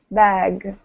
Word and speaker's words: bag: And really emphasize the G, bag, right? The G at the end of the word. Because if not, we hear back, right? If the G isn't strong enough, it sounds like a K. Okay, so really just over-pronounce that.